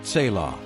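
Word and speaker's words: צלע: That word is tzila, pronounced tselah.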